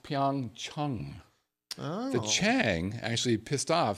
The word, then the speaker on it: Pyeongchang: Pyeongchang kindred which is actually supposed to be pronounced Pyong Chung the Chang actually pissed off some Chinese for